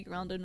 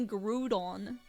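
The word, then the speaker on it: Groudon: Does it bother you that I say grounding wrong and I don't say Grudon? Crude crouton. I didn't know you did. Yeah, it's it's it's technically Grudon because that's how it's spelled, but I say grounding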